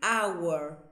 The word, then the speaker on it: hour: Bien, de todas estas palabritas con H, la única que tiene la H silenciosa es hour, porque no suena la H.